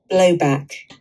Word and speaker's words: blowback: low back blowback blowback so it's just on the first syllable and the second one is back back low back blow back okay